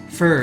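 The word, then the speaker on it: phở: Fur, yeah, exactly, Doctor. It's like pronouncing it fur, like fur or fur.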